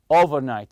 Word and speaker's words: overnight: it comes the overnight you say overnight stress the first part the over part and the conversation that